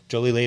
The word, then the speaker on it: Jolie-Laide: club, Jolie-Laide Wines.